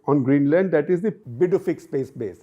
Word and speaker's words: Pituffik: That is the Pituffik Space Base. It's spelled p i t t u, but the pronunciation is Pituffik Space Base.